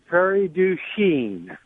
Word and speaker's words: Prairie du Chien: how do you say prairie du chien how do you say it very ding oh you've anglicized it it's like all the